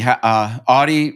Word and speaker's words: Auty: Auty rhymes with naughty, you told me.